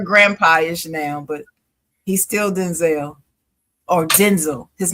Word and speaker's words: Denzel: His name is Denzel. That's what he said. Shoot the messenger. That's what he said in the interview.